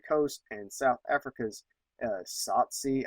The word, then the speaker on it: Tsotsi: and South Africa's uh Tsotsi. I'm totally butchering this pronunciation. It's t s o t s o t s i uh 2006 That was